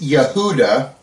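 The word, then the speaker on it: יהודה: In Hebrew, it's Yehuda.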